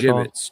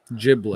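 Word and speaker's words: Jibbitz: They're called gibbets. Gibbets. So I put an L in there. Giblets.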